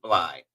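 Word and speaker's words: Bleigh: name but she said her last name is bly and it's spelled b-l-e-i-g-h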